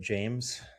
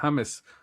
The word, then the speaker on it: James: Like it's it I um I know it's not how you pronounce his name, but James Ha- Ha- Hames Hames Been there for years, right? Hames Rodriguez, yeah.